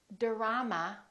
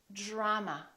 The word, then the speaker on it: drama: a few more words we don't say dorama we say drama drama we don't say drop